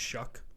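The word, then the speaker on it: Shough: I um So, Tyler, did you know his name his name is pronounced Shuck? Did you know that? I did. I did, actually. Yeah. Tyler Shuck.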